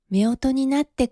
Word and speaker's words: 夫婦: Chú thích: Từ 「夫婦」thường được đọc là “fūfu” (chồng và vợ), nhưng trong cảnh này, nó được phát âm là “meoto”, một cách đọc cổ điển hoặc truyền thống hơn.